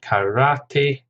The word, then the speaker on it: karate: Karate, 3 syllables, stress on the second, karate.